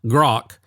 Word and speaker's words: Grok: And by the way, on that app that we're talking about that rhymes with Spock, Grok, it looks like, the logo looks like a black hole.